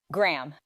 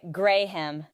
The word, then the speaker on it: Graham: Graham. Some people say Graham and then laugh. Or our more drunk friends would say Graham. Just one long syllable.